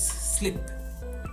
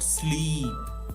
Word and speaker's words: slip: sleep on it right remember the pronunciation it's slip not sleep because the longer sleep